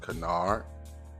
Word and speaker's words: canard: Um, so today's word of the day, today's word of the day is canard. Let me get that pronunciation. Canard. Canard. Canard is a now.